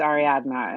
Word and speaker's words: Ariadna: fine that's cuz my my actual name is Ari adma and it's it's that D at the end is not a natural pronunciation AR adna well I you know the most polite thing